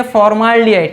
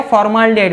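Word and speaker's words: formaldehyde: मेरा प्रोनाउंसिएशन सुनिए, फॉर्माल्डिहाइड, क्या, फॉर्माल्डिहाइड, मतलब एक A साइलेंट है।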